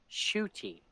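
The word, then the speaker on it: Ncuti: NC UTI is pronounced shooty okay it says it's pronounced shooty not okay so NC makes a sh sound and his last name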